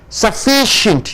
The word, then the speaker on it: sufficient: Sufficient, you stress on ish.